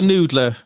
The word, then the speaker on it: NDLR: It's called the Noodler. It's just, that's how it's spelled.